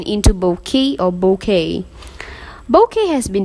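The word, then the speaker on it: bokeh: word correctly because unlike in Japanese the word bookie in English would normally be pronounced as book like Coke and choke the hitch transforms the pronunciation into bouquet or bouquet bouquet has been defined as the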